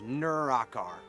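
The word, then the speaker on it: Nurakar: name my name is Nura car I always describe it imagine imagine being close to a vehicle what are you you're near a car well it's kind of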